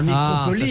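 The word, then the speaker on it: microcaulie: Alors ça s'écrit micro comme un micro et ensuite C-A-U-L-I. Ah, microcolie, ça change microcolie.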